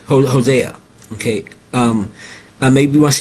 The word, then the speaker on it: Hosea: He say Jose Hosea."